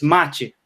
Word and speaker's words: mate: And then is machi or mach? Machi or mach? It's none of those. It's like between them. It's machi. Machi. Yeah, that's perfect. Machi.